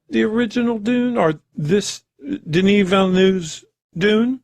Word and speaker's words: Denis Villeneuve: Director Denis Villeneuve is how they actually pronounce his name.